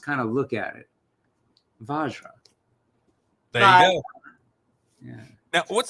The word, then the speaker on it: Vajra: mean it's we get we get the gamut we get like Viagra almost like VI like come on dude there's no eye there there's no I vagina and and there's no n in it no no we get Bara so little bit of like I don't know mixing up the letters and then V vajar it's vajra vajra and it's pronounced as